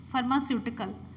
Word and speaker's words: फार्मास्यूटिकल: National आपको पता है फार्मास्यूटिकल, जब आप स्यूटिकल बोलेंगे ना तभी आप सही कर पाएंगे। फार्मास्यूटिकल ये स्पेलिंग है प्राइसिंग, PRICING।